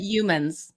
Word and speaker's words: Youmans: I know that's a difficult name to pronounce for some people. Youmans. I did Youmans. it, Youmans.